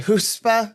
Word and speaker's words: chutzpah: Chutzpah?